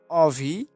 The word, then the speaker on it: অভি: কার থাকে তাহলে অ এর উচ্চারণ ওর মতো হবে। যেমন অভি, অভি আমরা লেখার সময় ঠিক এইভাবে লিখি, তবে উচ্চারণের সময় এইভাবে অভি বলি।